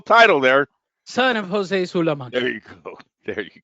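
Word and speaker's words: Sulaimán: there son of Jose sulan there you go there you go sulan you didn't know you gotta put the accent on the a Sul did I get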